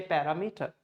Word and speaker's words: parameter: You say parameter. There's no stress. There's no partition. Actual way is first syllable per ram you have to stress.